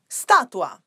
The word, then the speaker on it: statua: Statua, statue. The spelling is very similar, but the pronunciation is totally different. So in Italian is statua. Be careful with the pronunciation.